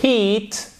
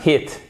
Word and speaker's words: heat: If you heat, et c'est alors attention, c'est pas hit.